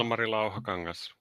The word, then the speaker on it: Ilmari Lauhakangas: And another guest in this episode is Ilmari Lauhakangas, I think. Have I pronounced that correctly, Ilmari? Yeah, Wow. Ilmari Lauhakangas.